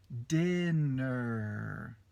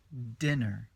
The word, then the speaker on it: dinner: terceiro né ler ou pronúncia dinner tem o r bem forte no final né Dener Dener então a sílaba tônica na vai no início entender essas três coisas